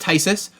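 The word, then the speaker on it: phthisis: it up here um it is pronounced tysis right so it's like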